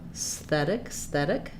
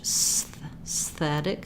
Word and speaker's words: aesthetic: Even if you started on the S and went to the TH, aesthetic, aesthetic, aesthetic. Just working on that transition of tongue behind the teeth and then tongue between the teeth.